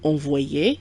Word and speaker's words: envoyée: We have envoyé, which means sent, and you may notice that there is an additional E at the end of envoyé, which is silent.